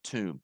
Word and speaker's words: tomb: buried him in a tomb that's pronounced uh the B is silent you don't pronounce the the B okay tomb what is Tomb in